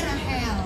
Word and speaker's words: Rachel: Rahel. Rahel.